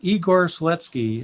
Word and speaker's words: Igor Seletskiy: learn linux tv and i am here with igor sletsky am i pronouncing that correctly yes thank you awesome to